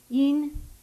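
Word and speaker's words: 阴: So yin is the first tone.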